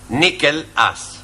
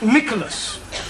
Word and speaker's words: Nicholas: upon a times there was a man called nickel ass it's not quite right no no once upon a time there was a woman called Nichol it's pronounced Nicholas all right once upon a time there was